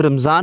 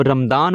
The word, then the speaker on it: Ramadan: उर्दू में हम रमज़ान बोलते हैं, इंग्लिश में रमदान बोलते हैं, बात समझ रहे हैं?